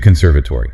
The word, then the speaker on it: conservatory: To the conservatory. C-O-n-s-e-r-v-a-t-o-r-y. That is a mouthful. 5 syllables. Let's break it down. The stress is on the second one.